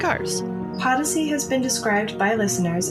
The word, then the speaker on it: Podyssey: Podyssey is Odyssey spelled with a P. Podyssey.